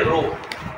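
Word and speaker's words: ρ: হচ্ছে এরকম টেরা রো এটার উচ্চারণ হচ্ছে রো আর রো ডব্লিউ ঠিক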